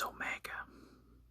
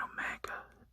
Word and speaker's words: Omega: And Omega has similar, like I said, has a similar pronunciation to Omicron, but it's more so like the sound ah, like in the word caught.